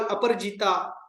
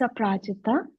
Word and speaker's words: Aprajita: I would like to call Aparjita, if I am pronouncing right. Aparjita, are you there? Yeah, it's Aprajita.